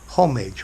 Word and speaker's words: homage: Homage, or homage as the French might say it.